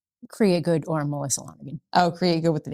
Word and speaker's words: Lonergan: Lonergan. Lonergan, not Longergan, as I want to pronounce it.